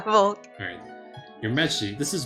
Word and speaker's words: Volk: It is Volk. That's how you pronounce his name, right? Yeah, Volk.